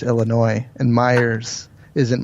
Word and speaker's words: Illinois: It's not Illinois. It's Illinois, and Myers isn't Myers. It's Meyer. So well, I know. The S is silent.